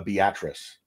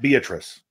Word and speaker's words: Beatrice: it's tough um uh Beatrice is a town in Nebraska spelled like Beatrice but it's the actress or beet rice is how it's basically spelled b-a-t-r-i-c-e but it's it's a Beatrice not Beatrice it's so crazy because